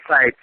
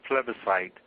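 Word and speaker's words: plebiscite: uh tell us about that well basically a pleite is used uh in the forming of governments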